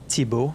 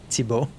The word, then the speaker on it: Thibault: Okay, that said Thibault, by the way. I know it sounds like there's a lot of letters to pronounce, but it's really just Thibault.